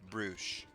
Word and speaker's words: brooch: It is pronounced brooch.